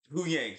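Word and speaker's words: Huyang: Horang, Yu right? Yang. Hu Yang, sorry.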